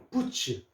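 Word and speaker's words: boots: 장화 신는 것도 있고 좀이 긴 목이 긴 구두 부츠 자 요거 붓 있습니다. 비읍에다가 요거 그다면 붓 되죠. 붓. 자 붓 되는데 요거 s가 붙지만요 ts짜는 요거 츠 소리로 내십시오.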